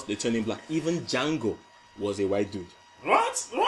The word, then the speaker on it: Django: The original Django is in the movie. The dude that came over to him and said, how do you spell your name? Then he said DJ something, the DJ is silent.